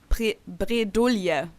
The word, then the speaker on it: bredouille: Bredouille. Like we pronounce that one completely different though. How do you pronounce it? Bredouille. Like we pronounce the L.